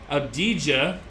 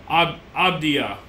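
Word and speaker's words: Avdija: a ooh a Denny abdij for the Wizards I know there's another way to say his last name it's like abdia I think it's obia the J is silent yeah I think it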